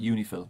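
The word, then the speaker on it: UNIFIL: Lebanon right and then you pronounce that uni Phil that's kind of the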